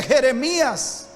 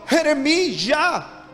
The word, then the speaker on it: Jeremías: nombre de samu él por eso es que jeremías no se dice jeremías sino jeremy ya eres geremi ya j a h y esa palabra jota